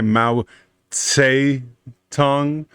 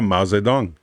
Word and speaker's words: Mao Zedong: the republic of china ooh i appreciate that actually pronounce it correctly most people say mao say tongue but is that mao zedong very good led to taiwan the